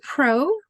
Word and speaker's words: pro: Okay, so again, pro rhymes with no.